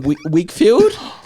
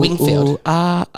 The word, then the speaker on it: Whigfield: I think it's from Wigfield. Oh, Wingfield. Sexy eyes. It's Wigfield. Wingfield. WHIGFIELD. Is it Wig or what? Pronunciation. I don't know this song. Ask ChatGTP. It is Wigfield, Danish singer and former Sexy model.